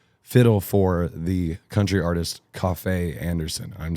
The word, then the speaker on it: Kofi Anderson: is you play fiddle for the country artist Kofi Anderson.